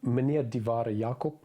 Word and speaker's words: Meneer die Ware Jacob: It's pronounced Meneer die Ware Jacob, and loosely translated means this is the genuine article.